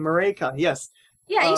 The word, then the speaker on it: Maryke: I'm still trying to get your name, Maryke.